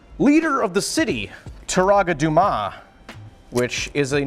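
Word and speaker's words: Dume: knew how to pronounce it's just d-u-m-e but like in the movie they both they say both dumas and doom so i've never i think i'm pretty sure it's douma so taraga dumas he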